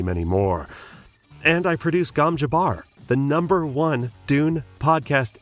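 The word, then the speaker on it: gom jabbar: two and many many more and I produce gam Jabar the number one Dune podcast in the world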